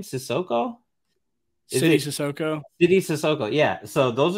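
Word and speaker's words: Sidy Cissoko: So I want to talk mostly about Leonard Miller and how do you pronounce his name? Sissoko? City Sissoko.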